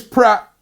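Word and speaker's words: Praet: He says, Dennis Pratt is pronounced Pratt, like A in bra.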